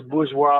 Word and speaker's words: bourgeois: i hate tranbuji because some goofy ass person who could not pronounce bourgeois or bourgeoisie called it boozy and everybody stuck with him pisses me off